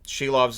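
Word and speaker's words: Silovs: I say his name nope she loves is how it's been pronounced uh that's how short house has been saying it and lans's actually jumped in when I was talking about the name pronunciation going yep that's the right way to say it so two- one with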